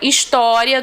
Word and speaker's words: história: História é paroxítona, tá? Tem aí a sua sílaba aqui, ó, no meio, tá? Acentuada. A penúltima sílaba.